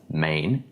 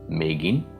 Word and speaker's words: Megin: about the concept of Mægen or Megin. And throughout this video I will pronounce Megin because that's how you are going to find that term most often.